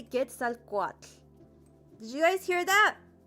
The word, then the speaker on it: Quetzalcoatl: Like if I say Quetzalcoatl. Did you guys hear that? Quetzalcoatl.